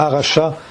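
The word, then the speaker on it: Harasha: Aracha, ça s'écrirait, c'est l'article H-A, R-A-S-H-A. H-A-R-A-S-H-A, ok.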